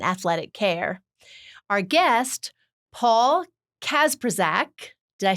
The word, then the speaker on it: Kacprzak: Our guest, Paul Kacprzak.